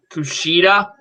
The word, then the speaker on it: Kushida: So we have the North American Championship matchup between Johnny Gargano and what do you pronounce his name? Kushida.